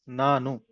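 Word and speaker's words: ನಾನು: I is Nanu.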